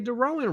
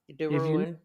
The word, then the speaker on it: DeRouen: didn't even say Dowan, right? The ruin.